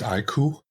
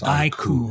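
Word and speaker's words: iQOO: How do you say that? Is it EQ or IQ? I think it's IQ. Like I quest on and on. It's IQ. Yeah.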